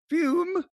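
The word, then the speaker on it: Füm: You got to put see, it's pronounced, it's spelled FUM. F-U-M. But you got to put the umlaut, the little drava there over the U, and it becomes Fume.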